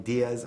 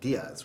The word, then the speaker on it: Melonie Diaz: We are here with the lovely Melonie Diaz. I want to say it right, Diaz, right?